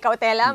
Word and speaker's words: cautelam: Una po sa lahat, tama ba ang pronunciation ng cautelam ay cautelam? At ano po ba ang ibig sabihin ng answer ad cautelam? So magandang tanong ho 'yun no lalo na sa mga hindi pamilyar doun sa ah legal language na ginamit nung answer. Ah lang po tama po yung pronunciation.